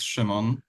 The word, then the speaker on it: Szymon: Perfectly, it's Szymon. This is how it is pronounced in Polish.